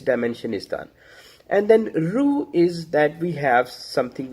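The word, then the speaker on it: روح: And so when we read Quran, then Allah Ta'ala says in Quran that Ruhu min amr min Allah. My pronunciation, excuse me for my pronunciation, but it's Ruh min amr min Allah.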